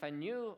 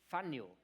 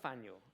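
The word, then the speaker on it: Faneuil: The Fen Hall marketplace is Faniel. It rhymes with Daniel. Should have known that. Daniel Faniel. There we go. Okay. The Faniel. Thank you. The Faniel Hall marketplace is where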